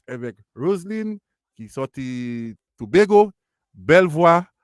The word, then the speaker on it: Roslyn: Is it Roslyn or Roslyn? Because I keep getting the pronunciation.